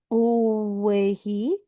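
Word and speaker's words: Owyhee: That that is the drainage for the Steen east of the Steen the Mahir and the way he rivers.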